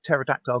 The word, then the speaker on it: pterodactyl: can't you hear a pterodactyl go to the bathroom I don't know way their p is silent that's cute that is